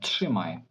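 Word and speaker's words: trzymaj: що це дуже тяжко після букв п після букв КК і після букву т т дуже тяжко вимовити бук бук ж тверду букву ж тому поляки видумали собі отаке правило читати як ш тши тши тши тши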